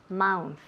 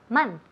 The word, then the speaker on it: month: No me digáis mouth. Eso me pone la piel de gallina. Okay. Mouth, nunca. Month. Month, ¿verdad?